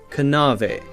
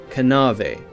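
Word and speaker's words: knave: in english were pronounced a word like nave k-n-a-v-e would have been pronounced something like kanave kanave now we have a silent k so we don't say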